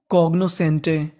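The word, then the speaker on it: cognoscente: आगे लिखा है हमारा हमारा एस सी ई इसे पढ़ना है से क्या पढ़ना है से एन टी ई तो मीनिंग एंटे तो पूरी मीनिंग कॉग्नोसेंटे कॉग्नोसेंटे कॉग्नोसेंटे का मतलब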